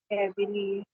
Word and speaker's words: cavalier: Cavalier. Cavalier. Cavalier. Again, ka is the first syllable, va is the second syllable, and lier is the third syllable.